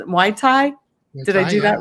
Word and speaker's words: Muay Thai: I cannot pronounce it. Muay Thai.